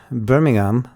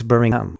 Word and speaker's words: Birmingham: i was up in birmingham then they don't pronounce the h so it's birmingham where here we would